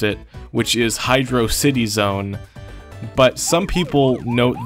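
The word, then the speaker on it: Hydrocity: people pronounce it as hydrosity I used to say hydrosity when I was younger but now I realize it's clearly supposed to be Hydro City and if you look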